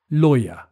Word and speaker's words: lawyer: the answer is lawyer this is another odd one to pronounce because the spelling doesn't really match the pronunciation you say lawyer number seven is a